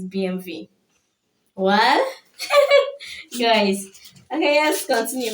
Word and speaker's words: BMW: BMW. That's the way we pronounce it. Not knowing that it's BMV.